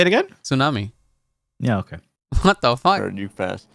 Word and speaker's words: tsunami: that it happens in Japan a lot okay tunami what say it again tsunami yeah okay what the you but you have